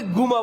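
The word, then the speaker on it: جمعة: তো মিশরের উচ্চারণ জিমকে যাকে গা বলে, জুমাকে গুমা বলে, গুমা।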